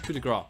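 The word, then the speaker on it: coup de grâce: It's coup de grace.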